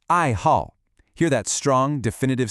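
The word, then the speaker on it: 爱好: Listen closely to the tones. It's two fourth tones back to back. The fourth tone is that sharp, falling one, like you're giving a command.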